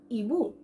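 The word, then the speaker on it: ibu: ইউজ হয়, সেটা হচ্ছে ইবু, ইবু, আই বি ইউ, ইবু। ইবু means mother, আমাদের মা, ওকে? সো ইবু উচ্চারণটা হচ্ছে ইবু, ই, ওকে? সো যেখানে যেখানে আমরা আই দেখবো আমরা উচ্চারণ করব ই, ওকে?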